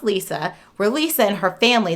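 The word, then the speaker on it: Liza: inner city DC where Lisa but spelled l-i-z-a she wants it pronounced Lisa where Lisa and her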